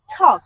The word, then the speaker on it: talk: বলা টক কথা বলা এটাকে আমরা টক না বলে আমরা যদি বলি টক ট দিয়ে তাহলে কিন্তু আরো বেশি পারফেক্ট হবে জেনুইনলি কিন্তু আমরা টক বলি বাট এটার কারেক্ট উচ্চারণ হচ্ছে ঠক কি বলবো ঠক দ্যাটস